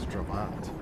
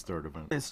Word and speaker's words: Sturtevant: like being back in stravant hey is this travant no it's third event okay whoa oh uh oh we've been saying it wrong this whole time I